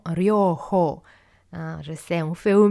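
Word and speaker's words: Ryōhō: Ryoho, de nouveau les H qui sont prononcés comme en anglais ou en allemand, donc ce n'est pas Ryoho. C'est vraiment Ryoho.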